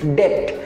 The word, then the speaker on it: debt: আমরা এটাকে ডেপ্ট উচ্চারণ করে থাকি, বাট এখানে বি এর উচ্চারণটা সাইলেন্ট থাকবে। ইটস নট ডেপ্ট, ইটস ডেট, simply ডেট, নট ডেপ্ট, ইটস ডেট, ডেট, ডেট, নট ডেপ্ট।